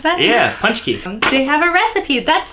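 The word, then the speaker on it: pączki: oh and they have a recipe for a punch key but that's how you pronounce that yeah punch key they have a recipe that's so cute oh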